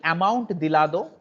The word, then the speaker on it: amontillado: Very similarly, amontillado, जैसे हमारा Hindi word है वैसे कुछ वैसा कुछ प्रोनाउंसिएशन आ रहा है.